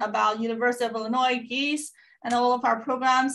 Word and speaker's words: Gies: have to correct you it's actually geese the same as animals no worries 99.9 of